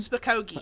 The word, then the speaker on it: Spokane: Spokane? Spokane.